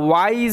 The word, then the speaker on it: wise: ডাব্লিউর পরে যদি আই থাকে সেই ক্ষেত্রে ডাব্লিউর উচ্চারণটা উয়ের মতো হয়, আর এখানে এস এর উচ্চারণটা জয়ের মতো হচ্ছে।